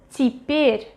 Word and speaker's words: теперь: Теперь, теперь, теперь. Теперь. Second ye is stressed. This one is written yeah but pronounced as и.